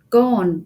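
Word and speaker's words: Gaarden: I would like to mention gone which is spelled g-a-a -r-d-e-n um and this is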